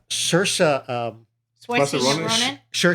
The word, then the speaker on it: Saoirse: plum role because a Saoirse sure so that's how i pronounce it supposedly Sheriff a-- uh she